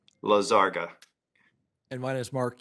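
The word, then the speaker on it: Lizárraga: I've got a little crisis of confidence since I've heard 4 or 5 different pronunciations. My name is Jaime Lisaraga. Lisaraga.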